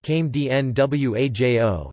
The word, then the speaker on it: Crème de Noyaux: Crème de Noyaux, pronounced came d-n-w-a-j-o, is an almond-flavored crème liqueur, although it is